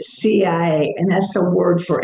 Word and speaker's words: Sia: I was the CIA, and I'm thinking in Egyptian, CIA, but they spelled it SIA, but pronounced it CIA.